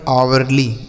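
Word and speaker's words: hourly: इसे पढ़ेंगे आवरली।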